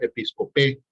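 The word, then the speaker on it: ἐπισκοπή: En el griego es la G 1984, la concordancia Strong, y se pronuncia episcopé, que es una superintendencia, un oficio, un cargo.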